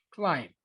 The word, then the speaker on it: climb: Climb. Okay. Esta palabra, la B, es silent. Y no se pronuncia, solo climb.